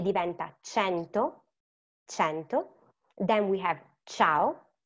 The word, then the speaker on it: cento: C and A is C, e diventa cento, cento.